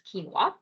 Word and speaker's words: quinoa: So if you're looked at that word and you're like, how do I pronounce that? It's quinoa.